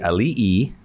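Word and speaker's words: ali'i: what I learned is the alii it's a three syllable word were the chiefs of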